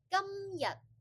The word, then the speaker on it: 今日: A lot of my students, they would like mix up the pronunciation and the tone, so it'll become like 今日, which is, I would have to guess, is it 今日 or is it 琴日?